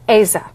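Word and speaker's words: Aza: Am I pronouncing that correct? Asa, that's right.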